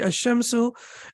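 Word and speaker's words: الشمس: we can see here the lime is not pronounced and the pronoun the correct pronunciation will be a shimsu and here the lime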